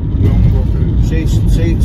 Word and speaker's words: Drumbrocket: Soak in the views at the place called Drumbrocket. Drumbrocket. Drum. Drumbrocket. Say like two syllables, okay?